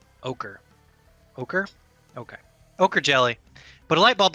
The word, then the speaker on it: ochre: of black jello or Oriche jelly. I'm not pronouncing that right. Ochre.